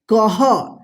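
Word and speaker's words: कः: तो इसको क्या पढ़ेंगे कह इसका ह उच्चारण होता है ये दोनों बिंदी है ना विसर्ग इसका ह उच्चारण होता है जिस भी अक्षर पे लगेगा उसके बाद जो है ना ह का उच्चारण होगा ठीक है ना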